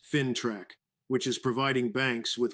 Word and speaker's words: FINTRAC: These protections are being backed up by the financial intelligence agency FinTrack, pronounced FinTrack, which is providing banks with what they call targeted indicator profiles.